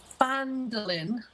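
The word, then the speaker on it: Phandalin: I'm on my way to Fandolin. Yes, is that correct?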